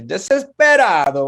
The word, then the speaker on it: desesperado: So what's cool is a lot of places in Latin America, they'll kind of like eat the like letters between the vowels.